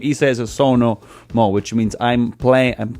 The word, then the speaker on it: Sonamó: no more which merely the name is a so no more which means I'm playing and playing now in reality the band it talks in third person so na mo the word doesn't exist in Italian it's just